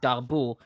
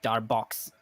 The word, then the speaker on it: Darboux: when you learn French names in mathematics, it can mess you up because you have people that name Darboux, but in English it sounds like Darbox.